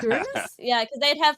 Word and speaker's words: Uranus: weapon youra who imagine technically it's pronounced Uranus Uranus Uranus sorry English third language guys I'm sorry no no no it's okay there's a lot of there's a lot of people who pronounce it the other way um listen as a